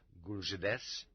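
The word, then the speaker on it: GULZhDS: a new autonomous archipelago called gulzids pronounced guljedes the chief administration of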